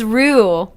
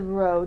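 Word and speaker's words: Roh: Oh, it's Roo. Roo, really? Roo. So it's spelled R-O-H. Yeah. So Roo. I probably would have said row, too.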